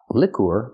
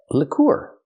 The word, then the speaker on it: liqueur: This word is pronounced lour. Leur. Move the stress to the second syllable. Not lour, but lur. Use the short sound like this is for the first vowel.